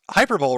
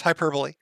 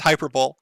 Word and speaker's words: hyperbole: your old videos and i noticed you would pronounce hyperbole wrong love you daddy jim i know it's hyperbole but i i do say it as hyperbole i think it i